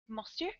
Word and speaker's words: monsieur: Am I doing that pretty close to the French pronunciation, Stephanie, or am I way off? Monsieur?